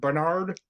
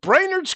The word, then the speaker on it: Brainerd: You take the word brain, take the word nerd, put them together, you say it quickly.